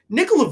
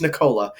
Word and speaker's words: Nikola: gotta pull this up nikola vucevic is on my list i said his name wrong i'm aware it's nicola but i don't give a